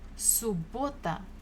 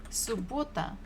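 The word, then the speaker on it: суббота: after half the day subota so we have double b but we pronounce it only one time subota subota Saturday next one was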